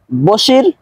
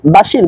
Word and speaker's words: বশির: তাহলে পুরো এবারটুকু অর্থ দাঁড়ালো এই যে বশির আমার শিক্ষক এবং আমি তার ছাত্র। আমরা অনেকেই বাংলার ক্ষেত্রেও বাশির বলি। আসলে বাংলার ক্ষেত্রে বাশির হবে না। বাংলার ক্ষেত্রে হবে বশির। আরবিতে উচ্চারণ হবে বাশির।